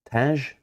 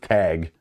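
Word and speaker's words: Tagge: Uncommon General Taj? I don't know. Edward? Edward, how do you say that? It's just tag. Oh, okay. The E on the end, it messes with me for sure, but I don't know this guy very well.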